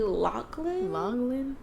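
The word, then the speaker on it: Loughlin: say her last name oh laurie lachlan lachlan look anyways your girl has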